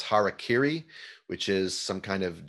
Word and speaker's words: harakiri: Harry Carey, I think, is like a celebrity personality, but it's also the way a lot of Americans pronounce harakiri, which is some kind of Japanese sword technique.